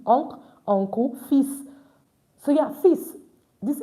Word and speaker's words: fils: So yeah, fils. This S is pronounced at the end. It's an exception. Normally we don't pronounce it, but this S is pronounced at the end. It's fils. Fils, son.